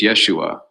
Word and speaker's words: Yeshu: hebrew aramaic name but in the galilean dialect of aramaic they often drop the last syllable so yeshu was very probably his name so in other words